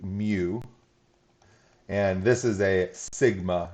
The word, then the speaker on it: mu: on it right here um and this is pronounced like mu and this is a sigma right here that